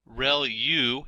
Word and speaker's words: ReLU: ReLU is how that is pronounced, and that's the rectified linear unit.